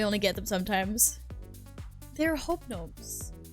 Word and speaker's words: Hobnobs: They're hobnobs. Right, it's spelled H-O-B-N-O-B.